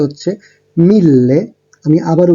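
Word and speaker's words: mille: এবার ১০০০ এর ক্ষেত্রে উচ্চারণটা হচ্ছে মিল্লে। আমি আবারও উচ্চারণ করছি, মিল্লে।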